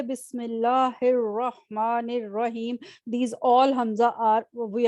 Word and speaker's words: Bismillah: pronounce the Hamza yes now you did so when you connected it when you joined it you didn't read it right you said Bismillah so what does that